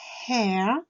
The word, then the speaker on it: hair: Deuxième mot de cette leçon, c'est hair. Donc attention, le H s'entend en anglais. Hair, qui veut dire donc les cheveux.